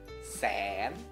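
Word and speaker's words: แสน: Dibaca langsung tanpa ada tanda baca apapun. Jadinya siang cetewa. Karena apa? Sose. Ini adalah kelas tinggi. Jadinya sen.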